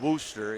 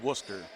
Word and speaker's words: Worcester: way from Wayne County, which is down by Worcester. And no, folks, it's not Worcester, it's Worcester.